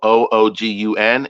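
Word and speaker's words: oògùn: So what I'm talking about is the word medicine is spelled OOGUN, and it's all low tones.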